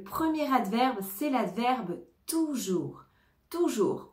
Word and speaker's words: toujours: adverbe c'est l'adverbe toujours toujours on ne prononce pas le S à la fin toujours donc en général